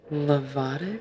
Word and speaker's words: Lovato: We have to also talk about very important people in your life, like your, and I want to say it right, Lovato.